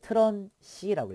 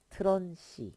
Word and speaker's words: TRUNC: 그 다음에 이거 저는 이제 이거 읽을 때 트런 c라고 읽어요 트런시 그래서 이거는 버림한다는 얘기인데